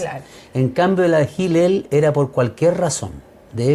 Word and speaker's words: Hillel: Una, la escuela tradicional y conservadora de Shammai, y la otra era la escuela liberal de Hillel, o Hillel se escribe, pero Hillel debe pronunciarse, ¿ya?